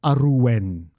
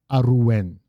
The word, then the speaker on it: Arwen: Um Arwen, by the way, is Aruwen, Aruwen. Just saying. So, Aruwen, and then can you think what form it would be of tatman that we need?